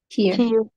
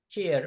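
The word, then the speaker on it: eerlijk: Ears de Here. Here. care. Mesela bu care diye okunduğunu çok duyuyorum.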